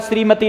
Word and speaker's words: श्रीमती: एक श्रीमती होता है, श्रीमती नहीं होता। उच्चारण में ध्यान रखना, ये संयुक्त व्यंजन है, ये श्र, ये है ऐसे। तो श्री हुआ, श्री, श्री ई, श्री, श्रीमती।